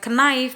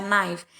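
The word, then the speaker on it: knife: kata n = nice bukan ke nice bacanya tapi dia dibaca Naif Enggak dibacakannya karena posisi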